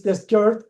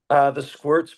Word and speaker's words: The Squirt: Is The Skirt a good way to pronounce, Matt? The squirts, but I like the way you say it better.